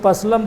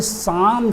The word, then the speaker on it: psalm: कोई पसलम पढ़ता है, कोई और किसी तरह से पढ़ता है, लेकिन ये साम शब्द है, यहाँ P भी साइलेंट है और L भी साइलेंट है, L भी नहीं बोली जा रही है।